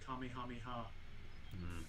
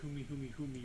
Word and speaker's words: Kamehameha: had the joke of always mispronouncing kamehameha it's like when he said kumihumi humi or something like that and anytime